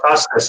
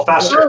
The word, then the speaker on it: Fester: wasn't crazy about Festus, honestly. The voice was Really? weird. Who? The Festus character? Or am I saying his name wrong? Uncle Fester. Oh, Fester.